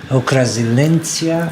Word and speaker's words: Укрзалізниця: Ukrzaliznytsia, excuse me for my pronunciation.